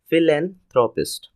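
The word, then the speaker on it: philanthropist: अब दूसरा वर्ड जो आता है उसका नाम है फिलेंथ्रोपिस्ट। फिलेंथ्रोपिस्ट, इसका प्रोनाउंसिएशन अच्छे देखिएगा। पहला में अनएक्सेंट साउंड है फी, फिर है लैन, this is going to बी A stress sound. फिलेंथ्रोपिस्ट English meaning होता है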